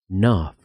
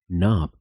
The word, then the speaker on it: knob: Knob, knob, perilla.